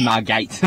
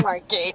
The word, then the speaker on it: Margate: Not Margate, Margate. Margate.